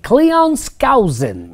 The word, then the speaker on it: Cleon Skousen: Cleon Skousen.